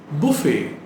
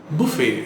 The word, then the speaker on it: buffet: you pronounce it as buffet the correct pronunciation is buffet it's a french word so buffett buffet buffet